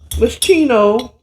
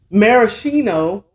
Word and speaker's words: Maraschino: And I am going to garnish it with my infamous Moschino. Let me say it right. Maraschino cherries.